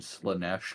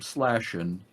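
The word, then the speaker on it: Slaanesh: I wanna that I learned how to pronounce zeech and slanesh correctly because I called them slashing and tezek I love it to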